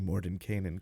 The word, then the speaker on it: Mordenkainen: Look at you pronouncing Mordenkainen correctly. Well, thank God someone had to, because I can't, Stu. I know how to say it, and I just can't when I actually want to say it out loud. The N in the middle just doesn't happen.